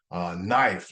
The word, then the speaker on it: knife: The letter or the word no, K-N-O-W, knife, like things that cut with a knife. It's K-N-I-F-E, and the K says nothing.